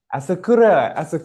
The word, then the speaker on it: Asakura: Did I pronounce that correctly? Asakura? Asakura.